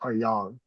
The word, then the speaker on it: Yang: Yang or Yang? I'm pretty sure pronounced Yang.